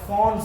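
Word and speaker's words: Pfund: लिखबार আছে लास्ट रहला फॉन्ट series actually तके लेखला बेले p रु स्टार्ट हेसी प्रोनाउंस कला बेले p टा साइलेंट थिबा फॉन्ट सीरीज बोली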